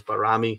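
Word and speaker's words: Bajrami: pretty sure that the the way the albanians pronounce it is barami so yeah anyway call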